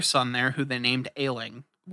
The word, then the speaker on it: Ayling: there who they named ayling a-y-l-i-n-g like as in sickly it sounds like he does sound like that but it's spelled differently it's spelled spelled in